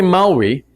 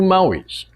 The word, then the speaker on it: Maui: One is the island, and the island is called Maui, if you want to pronounce it correctly. But the hero is called Maui, with a little bit of length on the A.